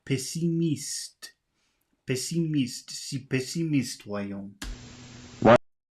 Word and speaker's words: pessimiste: Oh, he's pronouncing pessimist like it would be in English pessimist, but it's not pessimist, it's pessimiste.